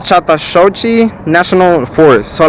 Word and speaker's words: Chattahoochee: i'm talking about it's called okay it's called chatashochi national forest so like you spell it c-h-a-t-t-a-h-o-o-c-h-e-e national forest just write that